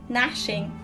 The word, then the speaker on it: gnashing: so something that closes the g is silent gnashing okay gnashing during the jaws